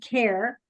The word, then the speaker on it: Care: Actually, my name is pronounced just Care.